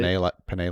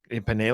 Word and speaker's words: Penei: I actually Googled how to pronounce his name because it looks like Penei or whatever. But Penei like the pasta. Penei like the pasta, not spelled the same way.